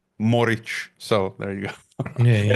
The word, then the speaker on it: Morić: one with the last name it should be modic like like the the luuka Modric right so modic uh as you pronounce it my first name pastes her we would say in Croatian is f moric so there you go it actually means it